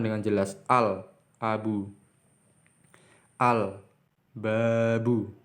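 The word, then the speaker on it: الباب: Al-babu, karena huruf ba di sini, di setelah huruf la, huruf ba. Maka la-nya ini diucap dengan jelas. Al-babu.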